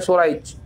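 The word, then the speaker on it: سريج: Ya, kalau kita sudah tahu si fulan ini, ya, namanya berakhiran jim, bukan berakhiran ha, maka bacanya Suraij.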